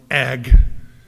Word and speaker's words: ag: a few weeks but it's just two letters one syllable but it's this little noise sound word called egg egg I kept hearing people say a I was like why is everybody clearing their throat around heard about a bills and the a committee and the a building it took me about three weeks to figure out what y'all were saying a is short for agriculture agriculture I guess four